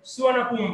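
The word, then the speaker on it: สุวรรณภูมิ: কাজেই তারা হচ্ছে নামটাকে সুবর্ণভূমি না বলে সুয়ানাপুম বলে, ঠিক আছে।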